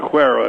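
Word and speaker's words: Acuera: Saying Aquera is spelled A-C-U-E-R-A.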